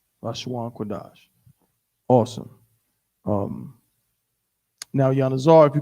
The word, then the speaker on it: Qadash: It's not Qadasha, it's Qadash. So we know what? That this Sha is sharing its vowel sound with the previous letter, the Da.